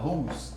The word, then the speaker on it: whose: W a pas prononcé encore. Non, whose. C'est pas whose, mais c'est whose.